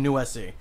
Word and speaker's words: Nuesi: your name for this Bryan Bryan noise see Bryan new se that sounds better when you say it yeah soon as you